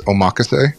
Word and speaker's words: omakase: I think there's 2 ways to say it. I'd say the correct way of saying it, I've heard more online from actual Japanese people, is omakase.